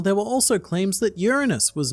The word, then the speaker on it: Uranus: And I actually really like how this article has the correct way to pronounce Uranus, which is apparently Uranus, which is really fun to say, but still really Greek.